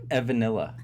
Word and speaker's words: Evanilla: You say it Evanilla. Evanilla. Because you get it, Evan is vanilla.